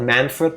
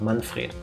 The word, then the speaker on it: Manfred: But with a German like pronunciation. Not Manfred, but Manfred.